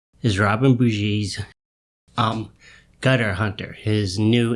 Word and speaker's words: Bougie: pronounce robin's name and in newer interviews he's referred to as robin bougie but there's an old clip from 93 which is a newscaster doing the pronunciation we all know how much they actually care but he pronounces it boujee so i'm not quite sure i do believe it's robin bushy so that out of